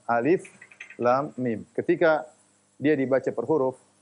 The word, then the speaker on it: الم: Makanya tidak dibaca alam, tetapi dibaca alif lam mim.